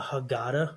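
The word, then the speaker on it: Haggadah: Um so anyway, you typically use a book called a hagada. That's how you say it in Hebrew. Hagada.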